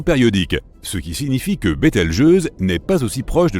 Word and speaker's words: Bételgeuse: supernova pour le moment quant à la manière de prononcer correctement Bételgeuse tu peux le faire comme bon te semble tu peux même dire beteljuice si tu en as envie la supernova 1987A a